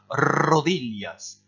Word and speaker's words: rodillas: voire même à caricaturer la prononciation du R qui se trouve ici. C'est un excellent entraînement. Au lieu d'essayer de dire rodillas, essayez de dire rodillas, vraiment en exagérant. Et vous verrez qu'en fait, probablement, vous le prononcerez pile poil comme il faut.